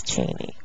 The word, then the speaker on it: Cheney: Cheney though oh okay is it Cheney or chenny I guess it depends what part of the country you're from and how you say it it's Cheney Cheney yeah yeah who's your